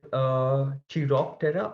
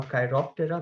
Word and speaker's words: Chiroptera: Is Chiroptera or Chiroptera, whichever way you pronounce it, which is a culmination of two Greek words where chiros means hands and ptera means wings.